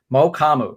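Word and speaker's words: Mukuamu: cowboys uh cornerback israel mukamu mo kamu is how you say is last night um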